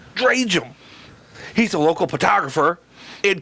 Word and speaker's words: Drajem: Drajem. Drajem.